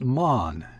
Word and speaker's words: Mahon: was mahon but he insisted it should be pronounced mon he was well connected yet there was something